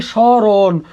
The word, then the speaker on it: স্মরণ: আছে কি স্মরণ, স্মরণ, এখানে আছে মফলা, তাহলে মফলা শব্দের শুরুতে থাকলে তার উচ্চারণ হয় না, কিন্তু সেই স্থানে কি বসে, একটা চন্দ্রবিন্দু বসে।